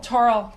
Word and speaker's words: Torrell: Torrell. Torrell. We have to come see you. Rhymes with coral. Yes, I remember. See? Coral Reef, Torrell.